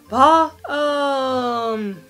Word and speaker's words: Balmain: Balmain uttalas alltså Balm. Så varför man tar med M och I har jag ingen aning om.